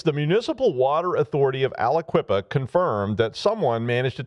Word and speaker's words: Aliquippa: Aliquippa. But Aliquippa's in Pennsylvania, and and we'll see how many times I typed that when I was writing the script, but it's the Municipal Water Authority of Aliquippa confirmed that someone managed to take control of